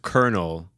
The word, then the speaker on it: colonel: it to you but it's actually pronounced Colonel yes it makes kernels